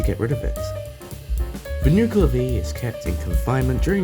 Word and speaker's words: Nuckelavee: note i completely forgot to pronounce the nuclear v like binocular v which is the correct pronunciation so don't forget to